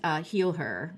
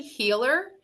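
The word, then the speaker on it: HealHer: idea for your project, Heal Her, right? That's what it's called. Uh, So it's actually healer, and Healer, sorry. The H is silent, but it's meant to represent I'm out there to heal women.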